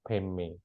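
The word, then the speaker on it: Padme: Dar Kata Om Mani tulisannya pat me tapi kalau di tibetan dibacanya peme ya Pak me Hum ya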